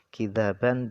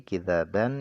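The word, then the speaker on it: كذابا: mereka juga tidak mendengar kidzaban bitakhfif. Jadi kidzaban itu bacanya dengan takhfif, maknanya adalah kidban, dusta. Wa tasydid, dan kidzaban tadi juga bisa dibaca dengan tasydid, kidzaban, maknanya adalah takdziban, pembohongan.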